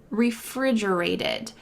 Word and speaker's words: refrigerated: pronunciation refrigerated refrigerated that final T is going to sound like a D in American English because it's surrounded by vowels this is very common